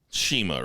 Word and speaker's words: CIMA: think i'm pronouncing right it's cima but it's pronounced like you would say shelley shima right and that's he's